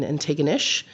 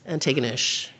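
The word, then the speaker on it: Antigonish: in Nova Scotia, in Ininew, which someone reminded me rhymes with bucket of fish. So if you're ever confused about how to pronounce Ininew, that's it.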